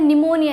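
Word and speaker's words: pneumonia: है फिर है निमोनिया अब उसका जो प्रनंसीएशन कर रहे हैं वो है निमोनिया यानी की एन से स्टार्ट हो रहा है यानी ने एम ओ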